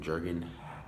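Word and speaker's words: Jürgen: and his social critic jargon that's how you pronounce the name Jurgen Habermas Haber miss introduces that comprehensive theory of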